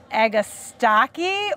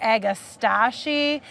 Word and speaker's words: Agastache: Everybody says it differently, but I'm gonna say it's called Agastache or Agastache, and I've heard it a dozen different pronunciations.